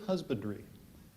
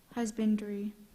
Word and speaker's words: husbandry: stocked with tools of husbandry are there any alternate pronunciations there are not husbandry h u s b